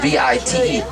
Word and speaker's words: wit: It's pronounced V-I-T-E, vite.